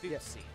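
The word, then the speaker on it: Fuxie: why don't you go ahead and spell that for me? F-U-X-I-E. F-U-X-I-E. Footsie.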